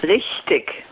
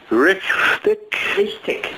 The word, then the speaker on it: richtig: So it's like Rick tick, but the K is like a soft K. It's a very soft Rick, K. It's close to a G at the, I mean, it's spelled with a G at the end, so it's also a softer sound. The last sound is a G.